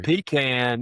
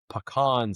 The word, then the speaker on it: pecan: pecan is the southern way to say it. Pecan sounds just like this elegant. Yeah, to me, pecan is the correct way to say it. Pecan is you're just trying to be fancy and you just sound like an idiot.